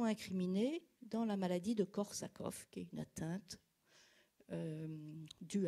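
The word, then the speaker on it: Korsakoff: en tous les cas ça se prononce korsakov en avant encore de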